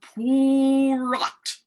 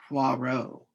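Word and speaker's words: Poirot: Poor. Puarro. Puarro. It is pronounced Puarro.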